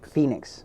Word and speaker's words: Fenix: alive so felix phoenix phoenix yeah like phoenix how do you spell it f-e-n-s-e-n-i-x okay so it's it's it's it's basically it's like phoenix okay phoenix got you